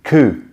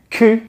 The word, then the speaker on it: cul: Nu and vu mean naked and seen, respectively, and que, which is spelled C-U-L for some reason, but que actually means backside, le derrière.